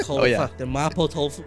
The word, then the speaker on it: mapo tofu: It sounds like you're saying maple tofu. Mapo tofu. Mapo? Mapo tofu. Mapo. How do you spell that? M-A-P-O.